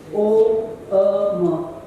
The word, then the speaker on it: Om: O-M, right? But I was always taught as a child that there are 4. Till you conclude the M with silence, you haven't finished saying Om.